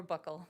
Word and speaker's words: buccal: Who took the, pronounce it buccal swab? Or buckle. Okay, either way is fine.